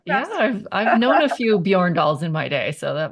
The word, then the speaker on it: Bjorndal: off the bat yeah I've known a few Yorn dolls in my day so that was not a